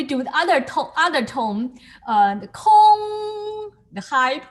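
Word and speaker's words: 空: This is pronounced as gong, and this is pronounced as a kong.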